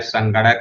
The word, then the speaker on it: संगणक: ये है, देखो यहाँ जो लिखा है संगणक यंत्र, इसको आप अच्छे से समझ लें। संगणक, ये लिखा संगणक, न के नीचे ग लिखा हुआ है, संगणक।